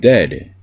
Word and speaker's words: dead: but sounds like bird and dead it said like bed not bead sir goodness say don't